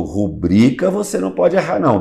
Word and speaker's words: rubrica: A rúbrica, que fala. É rubrica, doutor Mozart, porque Exatamente. É uma paroxítona. Quando você lê rúbrica, você está usando como proparoxítona. E rubrica é a penúltima sílaba que é tônica.